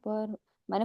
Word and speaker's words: परमो: इति परमो मंत्रो नहीं परमो प और र का उच्चारण पूर्ण पमो पर मैंने परमो पढ़ा परमो को हिंदी में पढ़ते हैं लेकिन संस्कृत में पूर्ण उच्चारण होना ही चाहिए प पर पर म